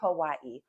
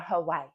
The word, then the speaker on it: Hawaii: Today, we are here to talk about things to do in Honolulu, Hawaii, or Hawaii, if you say it correctly.